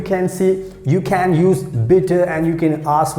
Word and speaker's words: bitte: b i double t e and how we pronounce bitter bitter so you know you we use please